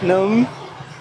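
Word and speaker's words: nướng: You have to smile.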